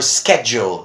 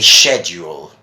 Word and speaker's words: schedule: British English you see Americans would mostly say schedule and in British English you say sheduled so thank you for